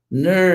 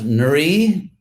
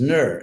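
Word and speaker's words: Nṛ: because it's actually N with a vowel R, which is ner, as an English word nerd or curd or, burfi.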